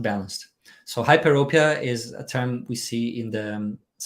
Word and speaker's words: hyperopia: when you talk about, and I'm trying to pronounce it right, hyper hypo Hyperopia.